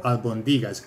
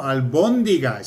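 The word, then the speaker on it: albóndigas: Madrid, the oldest restaurant, and he ordered albondigas. He said, quiero albondigas. Nobody knew what the hell he was talking about. And then finally they said, no, albondigas. Ah, exactly. It's only one movement of the emphasis, but it...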